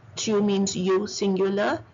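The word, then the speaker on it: ils: Il, S is once again silent, it means they.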